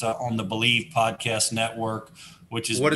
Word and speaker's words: BLEAV: It's on the Believe Podcast Network, which is what is that called? Say that again. Podcast on the Believe Podcast Network, and it's spelled BLEAV.